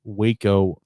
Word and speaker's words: Waco: central role in the waco massacre pronounced wacko it's pronounced wacko but then i heard